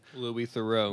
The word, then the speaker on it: Louis Theroux: They sent it out to the BBC department, which was responsible for Louis Theroux's how do you say his name? Louis Theroux.